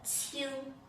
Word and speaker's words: 轻: The first 拼音 qi, qi, qi, qi, qi, qi. Yes. The second 拼音 ing, ing, ing, ing, ing, ing. It has 4 different sounds.